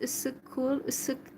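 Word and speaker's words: Issyk-Kul: So in Kyrgyzstan, we visited Issykul, or how it's pronounced, Issykul Lake.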